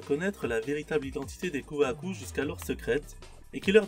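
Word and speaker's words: 空白: Ce symbole représente le vide, le blanc, et se prononce Kuhaku.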